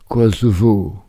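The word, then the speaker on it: Coysevox: Mercury riding Pegasus, the winged horse, and Renown or Fame riding Pegasus, both glorifying Louis XIV, were carved by Antoine Coisevaux. Some people pronounce Coisevaux.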